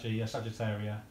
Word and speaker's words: Sagittaria: My how do you pronounce that, George? Sagi. Oh, Sagittaria.